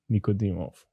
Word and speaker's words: Nikodimov: and then my last name n-i-k-o-d-i-m-o-v nicodemuf let's go let's go thank you brother